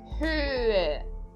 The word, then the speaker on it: Höhe: Então eu falo höhe, ok? E lembrando, o H no meio das palavras eu não pronuncio, ele apenas serve para separar as vogais, do O com trema do E.